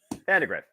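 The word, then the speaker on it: Vandagriff: though by uh Matt vandar how do you pronounce his name Vandergriff Vandergriff okay so I did get that's lit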